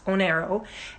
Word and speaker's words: Oneiro: So Onero, it's spelled Oneiro, I think. It looks like one euro, but it's Onero.